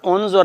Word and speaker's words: انظر: تو مجہول پڑھتے ہیں۔ انظر الیک، نہیں پتر، انظر نہیں ہے، دیکھیں نا، انظر کا مطلب ہے